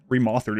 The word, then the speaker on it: Remothered: Yeah, remauthered is how it should be pronounced based on the game.